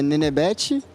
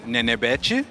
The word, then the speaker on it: Nenebete: Bom, como é que pronuncia é Nenebete e foi um apelido de quando eu era criança e acabou pegando, acabou curtindo e é isso.